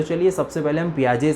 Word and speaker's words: Piaget: से शुरू करेंगे कि प्याज जो है कौन है कहां से है और क्या बातें करते हैं के लिए पियाजे का नाम है जिसमें लास्ट कर छुट्टी है तो वह साइलेंट है कि आपको याद